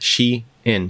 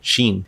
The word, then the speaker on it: Shein: none other than Xi'an and yes I said she in because that's actually how it's pronounced I did a lot of research to figure this out because in one of my previous videos when I mentioned Sheen as a supplier somebody actually corrected me in